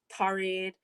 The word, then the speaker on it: Torrid: I'd see her wearing stuff from like Torrid, is that how you say it?